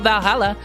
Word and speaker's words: VA-11 HALL-A: oh hey ba holla her name sounds facili and a bit hard to pronounce good thing it's actually called Valhalla the funny numbers and